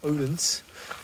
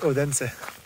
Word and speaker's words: Odense: So yeah, I also found out this place is not pronounced Odense. It's actually Odense.